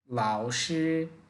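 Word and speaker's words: 老师: প্রথম পার্টটা একটু ভেঙ্গে বলতে হবে। পরের পার্টটা টেনে বলতে হবে। লাওসে।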